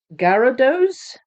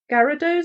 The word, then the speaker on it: Gyarados: of it um but I had to actually look it up how to pronounce it and and listen to it being and it came out gados so if that's if